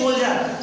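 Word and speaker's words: soldier: इसी प्रकार से एस ओ एल डी, डी के बाद आई ई आर आता है तो यहाँ पे डी का उच्चारण जा हो जाता है, बोलते हैं सोल्जर।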